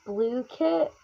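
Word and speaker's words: Blooket: start off, we were in reading class playing Book Kit. Okay, if you don't know, it's spelled B O O O K E T, but it's they say it's pronounced blue kit.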